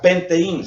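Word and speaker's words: πενθεῖν: La palabra lamentado significa penteín, se escribe penteín, que significa duelo, significa luto, significa lamentar.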